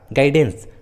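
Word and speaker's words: guidance: यू का उच्चारण नहीं किया गया है, यू साइलेंट है। उसी तरह गिटार, गाइडेंस।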